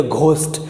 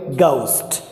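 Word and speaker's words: ghost: बहुत बड़ी गलती है, हमने जी एच से अपने आप पे हिंदी के हिसाब से घ बना लिया और इसे बोल दिया घोस्ट, जबकि ब्रिटिश प्रोनाउंसेशन में यानी इंग्लिश में घ होता ही नहीं है, तो कभी भी इसे घोस्ट ना बोले गाउस्ट भूत से बोलते गाउस्ट।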